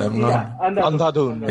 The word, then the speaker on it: Andhadhun: How do you even pronounce it? Andhadhun.